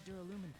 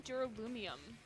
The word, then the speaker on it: duralumin: Inside the duralumin case Byakuya had with him during the party. Duralumin. I kept saying trying duralumium. I kept pronouncing it completely wrong last stream.